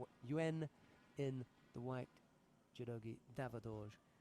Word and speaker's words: Yuan: It's Yuan in the white, judogi Davaadorj in blue. I know that Y-U-A-N is pronounced Yuan because we got a very good friend called Yuan.